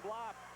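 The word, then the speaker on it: Blab: The second foul on Blop. His name is spelled U-W-E, Uwe, B-L-A-B, pronounced Blop.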